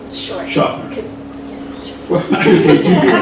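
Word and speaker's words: Shofner: It's not long, it's short. Short. Schofner.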